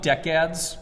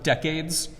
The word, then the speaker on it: decade: are five segments uh I call them decads because that's how I was taught other people pronounce them decades um I honestly have no idea which pronunciation is more accurate I like decad though because decade so obviously is a measurement of time so every decade or